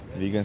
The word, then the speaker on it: vegan: Vegan should be pronounced with a soft G as it comes from the word vegetables.